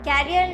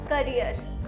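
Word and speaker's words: career: कैरियर नहीं, करियर है, करियर।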